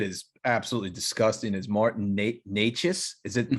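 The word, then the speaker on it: Nečas: absolutely disgusting, is Martin Necas. Is it pronounced with, it sounds like a CH, but it's just a C.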